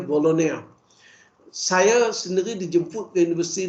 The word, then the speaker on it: Bologna: Dan di Itali mereka membina universiti bunyinya Bologna, ejanya Bologna, B-O-L-G-N-A, tapi cara pronunciation-nya Bologna.